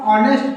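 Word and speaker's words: honest: अब यहां पे देखिए एच लग रहा है कि व्यंजन है लेकिन नहीं यहां पे एच साइलेंट होता है। इसको हम ऑनेस्ट पढ़ते हैं।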